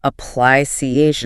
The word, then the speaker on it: application: Application. And application. Stress on the third syllable there.